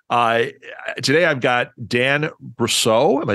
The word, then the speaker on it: Brousseau: bit earlier but uh today I've got Dan brousseau am I saying it correctly all right yeah